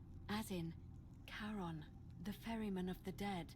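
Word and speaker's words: Charon: it's just as you described it only your pronunciation is a little off the name you heard wasn't Karen it was c h a r o n as in karon the Fairman of the Dead Oh Kon who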